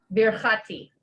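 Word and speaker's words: ברכתי: Birachti is my blessing. Birchati. Birchati. Beer. Yeah, that's like the glottal stop under the resh. So you're like beer and then chati.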